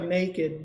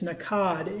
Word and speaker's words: nakad: know how to pronounce it sounds like naked but it's nakad n-a-k-a-d sheep and these were